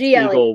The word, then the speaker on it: EA19LE: Your Twitter, I never know how to pronounce it, but it's EA19LE. GLE. It's Eagle with 19 in the middle.